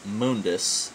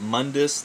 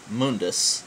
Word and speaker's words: Mundus: absolute absolute joke and it is Mundus not Mundus not Mundus it's Mundus that's what they say in the game I don't know why